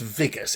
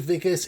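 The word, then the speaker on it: Wikus: I think it's pronounced Vicas. It's spelled with a W, but I'm pretty sure W's are pronounced as a V in South Africa. So, I'm going to pronounce it Vicus.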